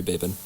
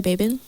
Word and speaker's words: Babin: It's just Rory Babin. Okay. Oh my gosh, I've been saying it wrong this whole time. It's Rory Babin.